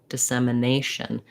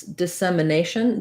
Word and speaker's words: dissemination: little bit more um so this dissemination this letter i is going to be an unstressed if sound you can almost think about it like a schwa like dissemination